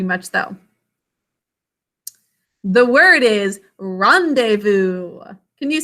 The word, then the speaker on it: rendezvous: a rashi rendezvous so rendezvous the part that's unusual about this is the way we think to spell it it's so different we've got some silent letters in this we think to spell